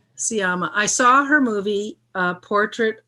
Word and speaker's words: Sciamma: Alex, you found out the exact pronunciation. Sciamma. Sciamma.